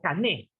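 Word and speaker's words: κανών: La palabra canon es una palabra griega que se deletrea, se pronuncia como cané, que significa caña o vara para medir.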